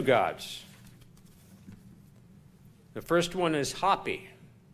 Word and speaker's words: Hapi: The first one is Hapi, or Happy, or Api, depending on if you pronounce the H.